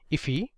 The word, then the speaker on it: IIFE: So this is known as an immediately invoked function expression, or IIFE, which is often pronounced as IFE.